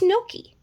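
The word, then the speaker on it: gnocchi: had no key okay i think it spelled like gnocci it's not it's not a big tongue twister it's no key okay well then the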